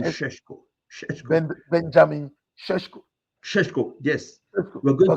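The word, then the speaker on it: Šeško: pronounce the name Benjamin Shesh- Sheshko. Sheshko. Benjamin Sheshko. Sheshko, yes.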